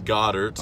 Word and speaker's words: Goedert: to be in Philadelphia I've heard your name pronounced Goddard go dirt what nicknames did you have in high school what's the correct pronunciation the correct pronunciation is Goddard's okay um nicknames Dame